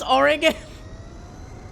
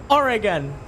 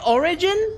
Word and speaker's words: Oregon: welcome to the channel they they just say the g like the one in grow or gas Oregon Oregon Oregon Oregon Oregon yeah or Oregon say origin origin that's why I